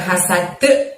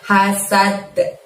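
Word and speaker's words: حسد: Lalu di depan ida ada lafadz hasad. Hasadnya dalnya disukunkan atau terjadi waqaf maka terjadilah qalqalah kubro dan harus kita mantulkan ya. Hasad, bukan hasad tapi hasad gitu ya.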